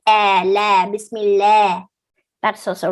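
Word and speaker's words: بسم الله: the p sound here don't say smell say miss okay like the way you say biscuit don't say bismillahi some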